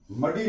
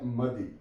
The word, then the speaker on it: muddy: Soft कैसे होगा? मदी, मदी, मडी नहीं पढ़ेंगे हम, MUDDY मदी, MIDDLY मिदल, मिदल।